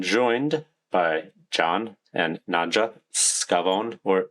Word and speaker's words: Scavone: I'm joined by John and Nadja Scavone or Scavone, depending on um, how you want to pronounce it, uh, English or Italian.